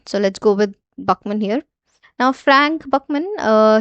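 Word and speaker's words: Buchman: Okay, so this person is our blank Buckman and Bookman. Okay, so this is a proper noun. So there can be multiple pronunciations of this uh officer name. All right. So let's go with Buckman here.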